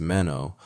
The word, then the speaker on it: Manon: Manan Bannerman, pronounced Mano, occupies a uniquely complicated position in pop culture right now.